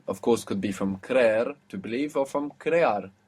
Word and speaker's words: creer: So, to believe is creer, creer, and it has 2 E's. C-R-E-E-R, creer.